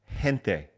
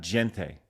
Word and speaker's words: gente: By the way, that's gente, not gente. Sorry, gente. I went Italian.